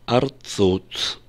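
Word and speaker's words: ארצות: Во множественном числе, в смехуте, в сопряжении, мы произносим его как «арцот».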